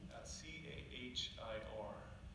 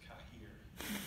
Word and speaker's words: Cahir: C-A-H-I-R. Sounds, and most Americans who come through think it's Cahir. It's pronounced Cahir, C-A-R-E, is what it sounds like.